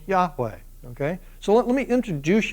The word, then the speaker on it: Yahweh: am in hebrew it would be jehovah which is really sort of a corrupted way to say it hebrews wouldn't say it that way they would say yahweh and even then they